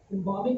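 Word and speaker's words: embalming: एम्बामिंग बोलेंगे, L silent है, एम्बामिंग।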